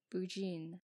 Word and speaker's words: Burgoyne: He pronounced it Bougine, which my informant used to borrow.